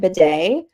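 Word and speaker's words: Badie: Scamper says that he pronounces it bidet.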